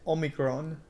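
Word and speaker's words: όμικρον: This one is almost exact. Omicron in Greek is Omicron.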